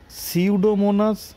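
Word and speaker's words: Pseudomonas: পিএফ মানে হচ্ছে সিউডোমোনাস fluorescence. পিটা উচ্চারণ হয় না এখানে, সেই জন্য সিউডোমোনাস ফ্লোরোসেন্টের জন্য পি আর এফ এটা ইউজ হচ্ছে।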